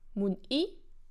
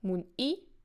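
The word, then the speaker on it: muni: So mun-i is stressed on the last syllable, mun-i, mun-i, but mu-ni is stressed on the first syllable, mu-ni, mu-ni, mu-ni.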